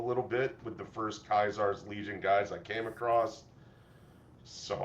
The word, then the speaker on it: Caesar's Legion: So instead of Caesar's Legion, it is Kaisar's Legion.